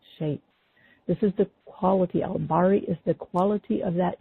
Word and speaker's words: Bari: And the next attribute that we call on is al-Bari, and that is spelled B as in boy, A-R-I, and it's a short I, like a I. Al-Bari.